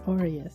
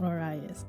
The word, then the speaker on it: Orius: against thy fellow man is it orius or oras I have I just been saying it wrong oh I'm so sorry all right is is orius not oras I'm sorry my bad